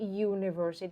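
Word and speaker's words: universe: ช่วย เรา มาก กว่า คำ นี้ ออก เสียง ว่า univers ถ้า เทียบ เป็น ภาษา ไทยย มัน คือ เสียง ย ยักษ์ พอ เป็น เสียง ย ยักษ์ ปุ๊บ อ้าว ไม่ ใช่ อ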